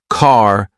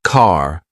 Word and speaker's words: car: Notice how the letter R is softer in British English. For example, in American English, car sounds like car, while in British English, it's more like ca.